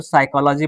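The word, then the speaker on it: psychology: ठीक है, जैसे यहाँ पे देखिए एस के पहले पी है तो पी क्या हो गया, साइलेंट, तो साइकोलॉजी पढ़ेंगे।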